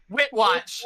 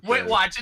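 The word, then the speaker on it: Witwatch: um you guys keep saying it wrong witw wit watch that's what it is wit watch it's even right there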